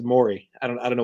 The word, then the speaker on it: Morey: blizzard pr was like by the way it's pronounced mori and i was like